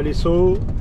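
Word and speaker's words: Lezo: Bon et ben, j'arrive à l'essau pour faire le plein du camion. Alors, les saut, ça s'écrit L E Z O, mais en espagnol le Z il se prononce S et et c'est dans la banlieue de Saint-Sébastien.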